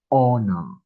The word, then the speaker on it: honor: pronounce this word right we don't say the h we start saying the o okay so we pronounce it as honor so the first sound is O.